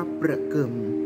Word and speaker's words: ประเกือม: สุรินทร์ ที่ ใช้ เรียก เครื่อง เงิน นี้ ว่า ประกิม นะ คะ หรือ ประคำ ที่ ที่ ใช้ สำหรับ